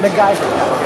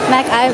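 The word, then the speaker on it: McIver: MacIver. MacGyver. Let's start over. MacIver.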